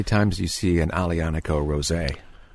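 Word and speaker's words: Aglianico: fun to watch people try to pronounce alianico yeah i think sometimes it's painful a little bit yeah to watch to watch yeah yeah right yeah there's a g in there pronounce it but there is one in there so you've been here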